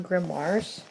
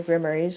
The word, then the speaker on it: grimoires: um grimoires or yeah it's more grimoires and nor they're in grimoires or grammaries i called it before i knew what the pronouns actual pronunciation was um but yeah this